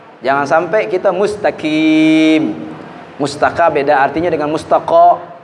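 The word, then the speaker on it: مستقيم: Kemudian huruf qaf jelas, qaf beda dengan kaf. Jangan sampai kita mustaqim. Mustaqa beda artinya dengan mustaqa. Mustaqim.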